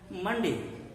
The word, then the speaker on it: Monday: that is not the case in english it's pronounced as mundi coming to this one more interestingly here again